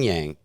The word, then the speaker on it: yang: Yang is the pronunciation. Yang? So it's still a G at the end. Yeah. Yang. But you get it in your nose? Yeah, a little neat. Like a gong.